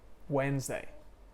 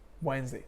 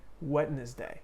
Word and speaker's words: Wednesday: very common word but most people i did mispronounce that word for a long time i didn't even know is the word wednesday wednesday monday tuesday wednesday so i used to say most people say wetness day we just put on we say that d